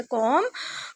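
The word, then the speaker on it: comb: को संवारने के लिए, इसकी इंग्लिश होती है कॉम। कॉम की सेकंड फॉर्म कॉम्ड होती है और थर्ड फॉर्म भी कॉम्ड होती है। कॉम, कॉम्ड, कॉम्ड। यहाँ पे बी साइलेंट है।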